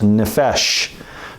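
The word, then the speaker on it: נֶפֶשׁ: The word for soul in Hebrew is this one right here, and it's pronounced nephesh, nun, pe, shin.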